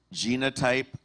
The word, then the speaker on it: genotype: Your word has 2 correct pronunciations. Genotype, genotype.